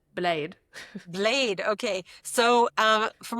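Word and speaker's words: Bled: That's how she said I'm supposed to pronounce it. Blade.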